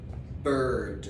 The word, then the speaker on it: bird: Bird. Come on. Bird. La I como una E. Bird. Y la D.